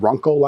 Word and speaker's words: Runcl: This particular one is a 20-liter bag from a company called Runkle, I think is how you pronounce it, R-U-N-C-L.